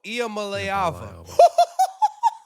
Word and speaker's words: Iamaleava: Nico Iamaleava. Wow. That boy knows his pronunciations.